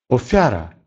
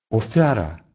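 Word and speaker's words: ofiara: Звук «ф» может быть мягким, если он стоит перед звуком «и». «Фигура», «фигура», «фигура» или «офяра», «офяра», «жертва».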